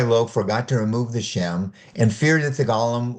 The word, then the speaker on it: Shem: Rabbi Lo deactivated the golem on Friday evenings by removing the Shem from the Sabbath or Saturday, before the Sabbath began, so as to let it rest on Sabbath.